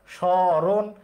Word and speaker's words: স্মরণ: মফলা শব্দের শুরুতে থাকলে ময়ের উচ্চারণ হয় না।